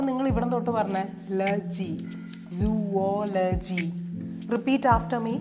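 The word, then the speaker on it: zoology: ഇസഡഒ എൽഓ ജിവൈ ഇതിന എങ്ങനെയാ നമ്മൾ പറയാ സുവോലജി സുവോലജിദസ്രസ് ഓൺ ദ സെക്കൻ സിലബിൾ എത്ര syllable ഉണ്ട്വൺ to three four Laji ലോജി അല്ല ലജി അപ്പോ നിങ്ങൾ ഇവിടം തൊട്ട് പറഞ്ഞേ ലജി സുവോലജി റിപ്പീറ്റ് ആഫ്റ്റർ മീ സുവോലജി അതിന്റെ മലയാളം ഞാൻ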